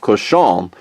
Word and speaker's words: Cochon: It used to be, it's actually pronounced Chef Cochon, which is C-O-C-H-O-N, which in French means pig.